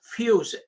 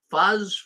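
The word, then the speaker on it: Fusz: I'm pronouncing it right the German name obviously Philip fuse f-u-s-z fuzz fuse and I guess fuse is as close as I got but but anyways this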